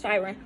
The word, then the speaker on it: Chiron: So I'm seeing the fifth house, and I'm seeing Chiron as, or Chiron. I know people pronounce that shit differently. I pronounce Chiron.